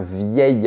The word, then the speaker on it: vieil: On dit un vieux château, mais un vieil homme, parce que le mot homme commence par un H muet. Ces formes particulières, belle, nouvelle et vieille, se prononcent comme les formes féminines, vieille, nouvelle et belle.